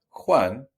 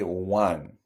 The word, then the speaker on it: Juan: calor juan tiene mucho notice the pronunciation of juan we don't say one when foreigners speak spanish it's like they're they're saying number one when they try to pronounce juan juan juan juan tiene